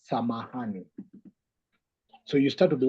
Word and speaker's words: samahani: Swahili, it has a word close to that, which is called samahani.